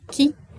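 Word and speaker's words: qui: All right, it's pronounced key like you unlock the door. Key is who.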